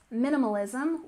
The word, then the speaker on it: minimalism: is about lifestyle Trends minimalism we stress the first syllable minimal minimal so minimalism refers to